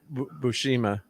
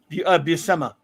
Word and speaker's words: Buscema: And then Bushima. I always say his name wrong. How do you say Sal's name correctly? Buscema.